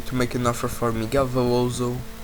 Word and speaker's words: Miguel Veloso: So right after that one, I'm going to make an offer for Miguel Veloso, that's how you say it in Portugal.